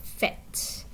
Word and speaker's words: faites: Okay, this verb you see right here, fait, it has lots of silent letters in it, right? The E and the S and even the vowel in the middle doesn't sound like what you would expect, but it's just fait.